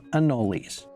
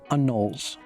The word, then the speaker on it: anole: talk about the name in florida my whole life everyone has called them annolis with three syllables other people call them anuls we're in florida there